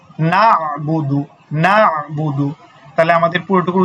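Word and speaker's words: نَعْبُدُ: করে সেজন্য দেখেন কি আছে নাুদু শুধু যদি নাবুদু বলি তাহলে কিন্তু হবে না সেজন্য কি পড়তে হবে নাুদু নাুদু নাুদু তাহলে আমাদের পুরোটুকুর উচ্চারণ কি হচ্ছে ইকানাু ইয়াকাবুদু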